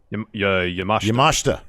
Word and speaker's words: Yamashita: Yamashita. Yeah, that's how it is. You don't pronounce the I.